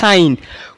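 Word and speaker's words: sin: শুধু সাইন ঠিক আছে এটা কিন্তু আবার সিন না অনেকে আবার সিন উচ্চারণ করো কিন্তু এটা কিন্তু সাইন কোসাইনের সংক্ষিপ্ত রূপ হচ্ছে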